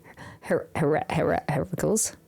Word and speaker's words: Heracles: Heracles. I always want to say Hercules.